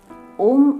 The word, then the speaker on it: ओम: ओम के उच्चारण में 3 ध्वनि है, अ, उ और म, जो विश्व की उत्पत्ति, स्थिति और लय को दर्शाते हैं।